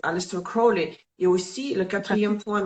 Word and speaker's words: Aleister Crowley: Marseille, Rider-Waite et, bon, je prononce à l'anglaise, Aleister Crowley.